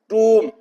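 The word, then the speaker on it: tomb: है ये वम है टूम बम कोम ब की आवाज नहीं आएगी खैर अभी हम बात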